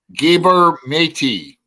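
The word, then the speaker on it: Gabor Maté: to be truly healed gabber matey is how you pronounce his name uh MJ probably knows him gabber matey is a fantabulous fantabulous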